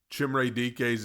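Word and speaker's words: Chimere Dike: Chimray DK's name is pronounced Chimray DK.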